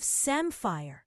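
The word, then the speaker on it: samphire: And they also have samfire.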